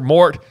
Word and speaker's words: Voldemort: yes got a Mr Mort Voldemort mugle even better would be like Mor you know because you're not supposed to pronounce the T I think yeah Jim I think